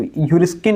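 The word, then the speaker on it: heuriskein: Greek भाषा के शब्द हरिसकीन जिसको ह्यूरिस्किन एक शब्द होता है। स्पेलिंग होती है एच ई यू आर आई एस के ई आई एन ह्यूरिस्किन से हुई है।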